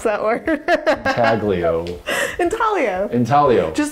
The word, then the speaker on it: intaglio: we just have like five minutes where you pronounce that work Magglio in Talia intaglio just like tall people the type of printmaking